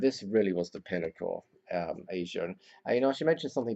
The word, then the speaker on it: Aja: si a but was like twist I guess Asia was the name that as far as I